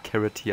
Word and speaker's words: Karate: kann man Einzel kaufen ich hasse es eigentlich wie das englisch ausgesprochen wird aber ich mach es jetzt einfach mal Karate ja Karate h ich scheiße an auf Englisch finde ich mich voll an carity Alter hört sich hört